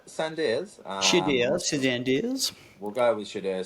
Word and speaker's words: Shedeur: Shedeur Sanders? Shedeur Sanders. Shedeur Sanders.